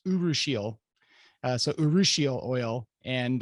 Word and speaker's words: urushiol: it looks like you were all but it's pronounced urushiol uh so urushiol oil and uh you can